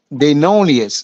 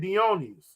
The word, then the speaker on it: Dionysius: the Roman version of, how you pronounce it again? Dionysius. Where's that? Yeah, that's how you say it, Dionysius.